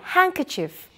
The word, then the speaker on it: handkerchief: correct now remember that when we pronounce the word handkerchief the D is silent say after me handkerchief hanky very good now